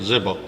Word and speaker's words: Ziba: Then the king called to Ziba, Saul's servant, and said unto him, I have